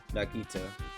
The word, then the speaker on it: Nagito: office nah g if you're curious is the pronunciation oh nagito thanks for that aren't i awesome praise